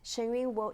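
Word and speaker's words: Shen Yun: Okay, I'm going to let you pronounce that because I don't have the articulation. But that is like a historical. Yes, Shenyun, you will see the 5,000 years of culture in a 2-hour show from Shenyun.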